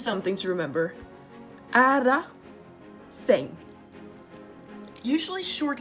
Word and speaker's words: säng: a de and this word is saying not sang but sing like an e so this is long a this is the other thing shorts so this is something to remember ah da sing usually short letters occur when there are two